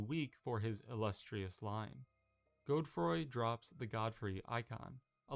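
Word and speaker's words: Godefroy: Also, it's pronounced Godroy. I thought it was Godfrey.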